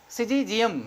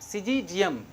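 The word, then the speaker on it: Syzygium: और इसके बाद क्या है, इसको सिजीजियम। सिजीजियम यानी SYZYGI, और फिर क्या होता है यूएम, सिजीजियम। फिर क्या है क्यूमिनी, सिजीजियम क्यूमिनी, ये क्या है, साइंटिफिक नेम ऑफ जम्बू है, यानी जामुन है।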